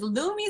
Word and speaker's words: Lumi: who's around my children all right next is lumi salon and there you are star uh serena applewhite is the owner of lumi salon is it lumi l-u-m-i am i saying it right yes you